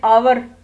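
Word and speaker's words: hour: तो हमने ए लगाया, लेकिन कुछ जगहों पे एच की साउंड नहीं आती, एच को साइलेंस कहते हैं। साइलेंट होता है या वॉइसलेस होता है, तो वहाँ पे एन आवर ओ की आवाज़ है, एन ऑनेस्ट मैन, तो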